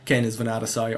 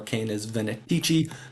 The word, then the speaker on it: Canes Venatici: Kane is Venatasai or Kane is Venetici depending on how you prefer to pronounce it.